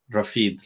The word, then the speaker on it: Rafid: Like, is it like Rafid, like that, like Rafa, Yeah, you said it right. Rafid, like that.